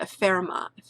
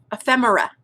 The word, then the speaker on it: ephemera: i'm saying it wrong it's the pheromone i always say it wrong ephemera thank you that's what it is but these are a